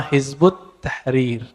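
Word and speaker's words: Hizb ut-Tahrir: Yang sering kita dengar beberapa waktu ini dengan nama Hizbut Tahrir ya. Dalam bahasa Arab kalau ditulis versi ee transasinya Hizb At-Tahrir ya. Tapi kalau dibaca hizbut tahrir. Cara bacanya begitu.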